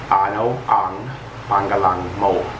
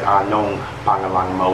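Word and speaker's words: ano ang pangalan mo: Now I, for the longest time, have combined these two words and said anong pangalang mo, which is also acceptable. This is the proper way to say it though. Okay, ano ang pangalang mo?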